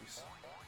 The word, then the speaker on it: Rhys: RHYS, yes, that's Reese.